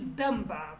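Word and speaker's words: دەمبا: It was supposed to be damba, because in Kurdish, look, in Kurdish standard, the standard Kurdish, you have to say damba.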